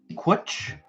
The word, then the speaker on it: cwtch: cwtch i'm going with switch but the website uh says it rhymes with butch kwitch would rhyme with butch